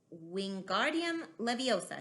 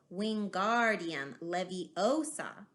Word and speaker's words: Wingardium Leviosa: having much more luck Wingardium Leviosa he shouted leaving his long arms like a windmill you're saying it wrong Harry hurting my knees now it's Wingardium Leviosa make the guard nice and long you do it then